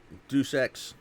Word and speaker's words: Deus Ex: Deus Ex is how you pronounce it. I believe. I'd have to look.